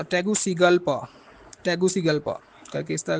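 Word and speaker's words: Tegucigalpa: है इसके कैपिटल का टैगु टैग सीगा पा टैगुसिगलपा टैगुसगलपा करके इस तरह का इसका नाम है जी स्पेलिंग आप इसको लिख लें जीस के कैपिटल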